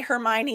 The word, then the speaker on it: Hermione: The only roadblock in those books, and if you've seen the movies, you know it, is the way Hermione is spelled is a real roadblock when you're starting.